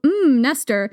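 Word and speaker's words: Mnester: Right, so Nestor, it's spelled M-N-E-S-T-R, so that's why I'm saying it that way.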